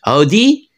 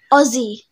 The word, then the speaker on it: Aussie: Well, how do you say it? Aussie. Audi? Aussie. Ah, Aussie.